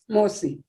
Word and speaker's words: mosi: Mosi. Thank you. Mosi. Can you just spell it for me?